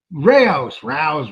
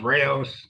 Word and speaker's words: Rao's: Is that how you pronounce it? The restaurant? Rayos. Rao's. Come on. That's the Anglo in me.